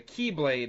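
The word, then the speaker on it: χ-blade: He gets the X Blade, or the Key Blade is what they call it in the game, but it's the X Blade is easiest to differentiate.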